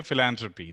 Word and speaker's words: philanthropy: nice pronunciation so philanthropy so even though there is the th we still say philanthropy so do you guys